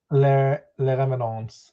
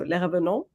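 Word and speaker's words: Les Revenants: called Le Revenants, I think. Is that how you pronounce it? Question mark. I think you just don't pronounce the S at the end. So Le Revenant.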